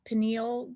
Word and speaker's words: pineal: does it have to be true that our penal game i don't even know how to pronounce that p pineal pineal gland produces less melatonin pineal thank you